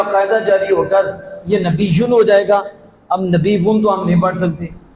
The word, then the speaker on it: نبی: نعوذ باللہ من ذالک، نہ یا مد یا پڑھی ہی نہیں، یعنی سمجھو کہ لفظ نبی کا تلفظ ہوا ہی نہیں، یہی مطلب بنتا ہے، اور کیا بنتا ہے؟